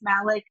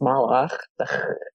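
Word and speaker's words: מלאך: I just say it's Malik. I say it's Malik because the show, like the Malik box. That's how I say it, because that's how I've heard you say it. It's actually pronounced Malach.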